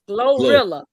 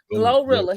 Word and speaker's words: GloRilla: Glorilla. Glorilla.